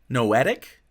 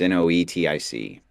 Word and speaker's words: noetic: the the no addict realm n-a-n-o-a-d-i-c no noetic noetic how do you spell it um give you the proper spelling here just so that you've got it it's n-o-e-t-i-c n-o-e-t-s-e okay noetic okay and what is that